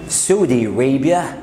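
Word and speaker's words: Saudi Arabia: سعودي ريبيا، سعودي ريبيا او سعودي ريبيا، يعني ممكن تقول سعودي وممكن تقول سعودي ريبيا.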